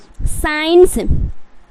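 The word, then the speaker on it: science: उसके बाद क्या है साइंस साइंस साइ साइन देख रहे ना सी का उच्चारण यहां पर नहीं हो रहा था क्या हो जाएगा साइंस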